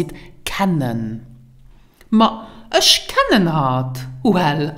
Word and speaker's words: kennen: Pronounce it kennen.